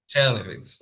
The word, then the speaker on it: Chernivtsi: You were born in Chernivtsi. Did I say it correctly? Chernovitz, right?